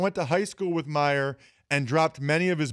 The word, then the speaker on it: Mirer: So why is that not pronounced Mior? Why don't you get rid of the R's there? Well, it's Mirer because there's two vineyards that